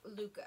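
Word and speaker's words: Lykke: Oh, is that how you say it? Yep, it's Luca. Why was I thinking like I didn't know what you were talking about.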